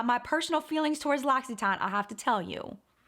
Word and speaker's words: L'Occitane: People tell me I'm saying L'Occitane wrong. I'll put a link to the L'Occitane pronunciation so you can hear the owner saying it, just so you know I'm saying it correctly.